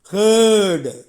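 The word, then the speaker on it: heard: ஹெச் இ ஆர் டி ஹேர்ட் உச்சரிப்பை கவனிக்கணும் ஹேர்ட் தொண்டையில் ஏப்பம் விடும் ஓசை எப்படி ஹேர்ட் வி3 அதுவும் ஹேர்ட் என்று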